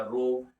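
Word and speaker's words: ρ: यहाँ पे एक सिंबल आ गया जिसको हम लोग बोलते हैं, ये जो है इसको प्रोनाउंसिएशन किया रो, और इसका नाम होता है रेजिस्टिविटी।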